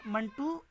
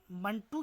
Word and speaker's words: منٹو: کشمیر کے منٹو ذات سے ہے۔ عام طور پر لوگ اس کا تلفظ بالکسر زیر یعنی منٹو کرتے ہیں، جو غلط ہے۔ ایک بار پھر سن